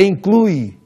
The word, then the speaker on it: inclui: Muitas vezes nós falamos exclui. Nós não percebemos se é um E ou se é um I. Ou inclui, e é inclui.